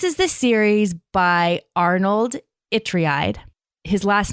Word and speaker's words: Ytreeide: This is the series by Arnold Itreide. His last name is spelled Ytreeide.